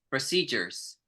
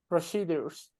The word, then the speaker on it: procedures: Procedures. Rick, pronunciation? Procedures. No. Here we're gonna say like a G sound.